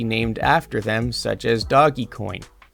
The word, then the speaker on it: Dogecoin: after them such as doggy coin i think it's pronounced dogecoin but it's literally spelled doggy coin dog e coin i